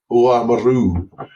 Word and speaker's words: Oamaru: I went to the inaugural Bruxelles Oamaru, apparently, which is I was instructed was the right way to say it.